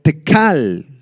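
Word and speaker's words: תקל: culpable esta palabra tequel proviene del arameo tecal con k y acento en la tecal que significa pesar en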